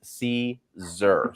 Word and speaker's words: Siser: transfer vinyl manufacturer I'm going to start with Caesar first because I think that that's the important one to make sure that everybody knows and like I've said it a couple of times it's pronounced ceser so Caesar of the company exactly perfect so much so